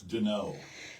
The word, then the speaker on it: Donnot: to say it yeah it's Den see so is that French French Mark do d n o w no d o n n o got it yeah okay